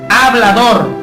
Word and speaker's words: hablador: en exceso, un hablador, no como muchas personas pronuncian hablador, no es ja con J, es hablador con H, que habla demasiado.